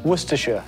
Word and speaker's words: Worcestershire: kind of funny Shire it's actually pronounced Worcestershire it's like Leicester Leicester no I can